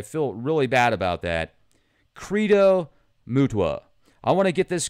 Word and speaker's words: Credo Mutwa: Credo Mutwa. That is his name. I've mispronounced it several times. I feel really bad about that. Credo Mutwa.